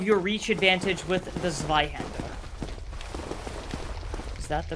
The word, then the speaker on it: Zweihänder: Make use of your reach advantage with the Zweihänder. Is that the correct pronunciation, or... It's called the Zweihänder.